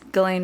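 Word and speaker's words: Ghislaine: Elaine what is that that's galane Maxwell's name that's how you say it it's like an Australian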